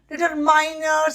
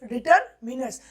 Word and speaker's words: determiners: डिटरमिनर्स, बहुत जन इसको डिटरमाइनर्स अपना एक्सेंट को अलग अलग शो करने के लिए पढ़ते हैं, लेकिन वो बिल्कुल इनकरेक्ट है। The correct pronunciation is डिटरमिनर्स।